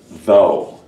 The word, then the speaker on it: though: can just use though this is a voiced th sound and then the rest of this is just oh fell though I brought